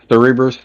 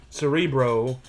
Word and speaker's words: Cerebro: Cerebr Cerebrus. Cerebro. But Cerebro, sorry.